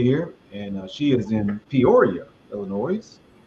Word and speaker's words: Peoria: And um is this Okay, I'm gonna let you pronounce that one, Ty. I'm I'm gonna let you figure that one out. She's in Perio. Peoria though.